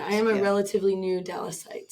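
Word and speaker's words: Dallasite: am a relatively new Dallas site so that's how we say it right Dallas site a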